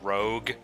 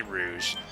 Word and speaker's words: Rouge: I remember for so many years I always pronounce Rouge as rogue I always called it rogue and I called hassles you know martial arts style I called it rogue style yeah it's actually Rouge Rouge is just like ro u GE and